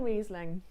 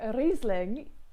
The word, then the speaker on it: Riesling: is slightly German, is if it has an I and an E next to each other, they flip and reverse around all the time, but always pronounce the second letter, ignore the first letter.